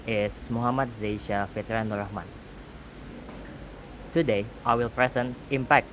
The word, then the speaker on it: Muhammad Zaisya Fitriannuur Rahman: My name is Muhammad Zaisya Fitri Nurahman.